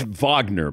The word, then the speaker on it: Wagner: you can't rewind it I think it's Vagner by the way not I mean let's pronounce it correctly you know European style European style so so for an